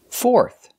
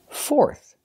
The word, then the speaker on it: fourth: with air er third fourth fourth use the or sound like door and floor and finish with the th with air like thank you and think fourth fourth and